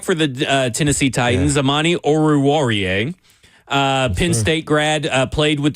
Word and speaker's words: Oruwariye: Amani Oruwariye. Oruwariye. Warrior. There it is. All right, there you go. Warrior. Yeah, I had to follow his there we list. go. So I could Okay. So it's kind of pronounced how it's spelled.